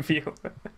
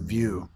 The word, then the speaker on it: Vieaux: like, no, guys, like everybody, we need it's VO. Like, stop saying view. I bet you have to spell that a lot.